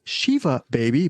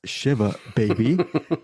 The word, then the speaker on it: Shiva Baby: I said it was Shiva Baby, but it's Shiva Baby.